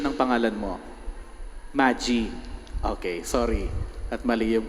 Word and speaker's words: Magie: nina Rudito and Maggie. Tama ba yung pronunciation ko? Ha? Tama. Hindi. Anong pronunciation ng pangalan mo? Magie.